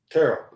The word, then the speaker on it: Terrell: Terrell? Yeah. Terrell. Yeah. Listen, you can say that a couple of different ways, but his name is Terrell.